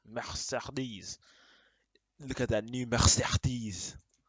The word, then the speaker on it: Mercedes: Also, all the E's in the word Mercedes are pronounced differently. When you say Is it Mercedes? Mercedes.